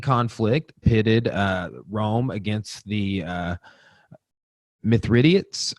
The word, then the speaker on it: Mithridates: pitted Rome against the myth riddance or myth rIDOT days I spelled mi thr idat es this I've heard it Mithridates or myth or Dante's I've heard it pronounced both ways and I'm not sure which one is correct but there's a rebellious